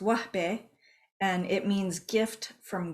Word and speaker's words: Wahbeh: is a Arabic surname it's an Arabic pronounced wbe and it means gift